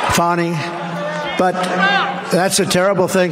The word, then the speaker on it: Fani: It's actually pronounced Fanny. It's F-A-N-I, but you pronounce it Fanny, a little French accent there. Fanny.